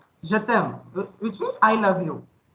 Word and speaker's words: je t'aime: E will get silenced into it, so the word gets combined and it will pronounce as a single sound.